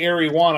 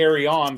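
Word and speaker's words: Eryone: sell lots of silk silk film and people mispronounce that a lot too yeah Arion a lot of people say ar1 and I say AR on because uh a person with their company a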